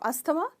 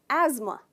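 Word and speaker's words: asthma: ये गलत प्रोनाउंसिएशन है, इसमें हम थ का साउंड बिल्कुल नहीं करते हैं, इसको कहते हैं एज़मा, एज़मा। ट्राई कीजिए, एज़मा। तो इसमें आप स्ट्रेस करते हो एज पर, एज़मा, राइट।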